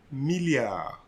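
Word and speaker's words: milliard: the million okay now one billion will be nothing but a millia one more time uh millia you see i'm not pronouncing the d one more time uh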